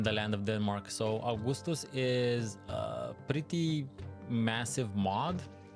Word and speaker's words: Augustus: So, this is Augustus, and Augustus, or Augustus as we would pronounce it, looks a lot like Caesar 3,